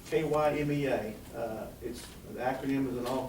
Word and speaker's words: KYMEA: And they trying to decide what to call themselves, so it's KYMEA. The acronym is in all caps. It's just pronounced, just say the letters.